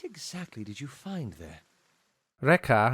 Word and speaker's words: Rekke: Reca, I guess, is actually how his name is pronounced now that I'm actually reading it on the Pillars of Eternity fandom.